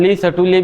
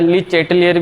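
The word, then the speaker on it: Le Chatelier: अच्छा, French name है तो इसका अलग अलग प्रोनाउंसिएशन होता है। ली सर्टुलिए भी बोला जाता है, ली चैटेलियर भी बोलोगे तब भी चलेगा।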